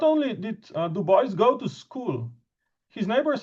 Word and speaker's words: Du Bois: And I say this with apologies to Charles and to all of the French colleagues, but this really is how the Americans say it and how he himself said it.